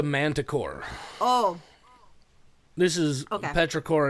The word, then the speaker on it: petrichor: petrichor, and it's spelled completely different. It's spelled like ichor, I-C-H-O-R, like I think it's the Greek word for blood, maybe.